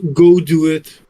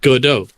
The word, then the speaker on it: Godot: it's it's pronounced as go do it no it's not yes it is it is a French gaming company that is therefore pronounced Godot oh that's so stupid